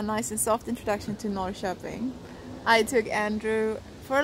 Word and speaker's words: Norrköping: Norrköping. Oh my god, that was a horrible intro. It's not how you pronounce it. So, as an introduction, a nice and soft introduction to Norrköping.